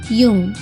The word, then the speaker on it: Jung: अच्छा याद कर लो, JUNG, यूंग। बहुत जाहिल इसे जंग पढ़ते हैं और कुछ जुंग।